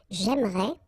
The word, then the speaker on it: j'aimerais: the same thing, because even if you get this here and here, you don't pronounce it. So it will go like j'aimerais, or then j'aimerais. Remember, phonetically they are the same, okay?